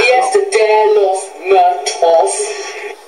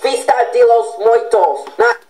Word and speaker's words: Fiesta de los Muertos: Fiesta de los Muertos. It's Fiesta de los Muertos. Okay. I am sorry for my bad pronunciation.